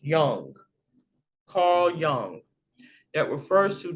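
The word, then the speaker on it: Jung: coined by psychologists call john but it's really pronounced young is spelled j-u-n but that is pronounced young carl young that refers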